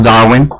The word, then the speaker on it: Darwin: If you don't know how to pronounce it, it's just like Charles Darwin, the evolution guy. So Darwin.